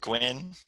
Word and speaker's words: Gwyn: hi everyone I'm Gwyn it's okay for you my last name wrong I've heard it all Gunn Quinn so I won't have